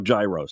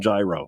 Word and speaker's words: gyro: So here I am in line at Papa Gyro's. I order the Gyro Supreme. Suddenly, the lady behind me chimes in. It's pronounced gyro. Then the fella behind her says, It's a gyro.